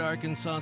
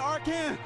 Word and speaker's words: Arkansas: On your favorite Arkansas sports talk station.